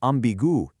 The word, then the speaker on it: ambiguë: And in une situation ambiguë, it ensures we pronounce that final u and e distinctly, rather than just swallowing them at the end of the word.